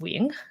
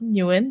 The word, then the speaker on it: Nguyễn: So it's pronounced Nguyễn, not Nguyen, Nagayan.